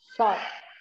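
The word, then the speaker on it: chat: Sha. Very good. Sha. Sha. T will not be pronounced. It will be sha.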